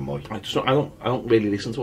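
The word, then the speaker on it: Mooy: No, some people pronounce it Mooey. Even though he says his name's Adam Moy.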